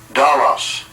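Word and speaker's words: δόλος: And the Greek word for guile there is pronounced as such. Strong's G 1388. Dalos.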